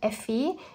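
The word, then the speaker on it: Ephy: And his name is kind of like a short form of ephemera, so Effie, and it's spelled E-P-H-Y.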